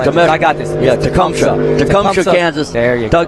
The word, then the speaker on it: Tecumseh: Yeah, Tecumseh, Kansas. There you go. Tecumseh, Kansas.